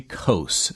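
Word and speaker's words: Coase: Ronald Harry coast co a s e British economist and author uh Nobel Memorial Prize in economics and sciences in 1991.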